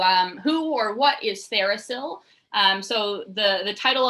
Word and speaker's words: TheraPsil: who or what is thericill um so the the title of our name kind of breaks it down thera as in therapeutic and still the p is silent as in psilocybin um so we're a